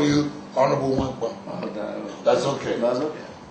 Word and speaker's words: Nwankpa: Yeah, it's Nwankpa.